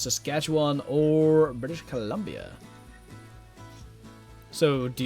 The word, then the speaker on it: Saskatchewan: Yeah, that's how that's pronounced. Saskatchewan or British Columbia.